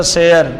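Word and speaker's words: سِیَر: لکھتے ہم اس طرح سیر، لفظ اسی طرح بس تلفظ میں سین یا اور را، سین کے نیچے زیر، یا کے اوپر زبر، سیر بن جائے گا۔ سین کے نیچے زیر،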